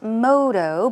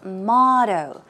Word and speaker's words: motto: one is that's right not Modo but it's MTO okay let's take a look it's motto MTO MTO motto and synonyms are catch